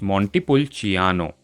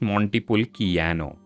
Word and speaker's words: Montepulciano: Similarly, CI is pronounced as Ch, meaning it's Montepulciano, not Montepulciano.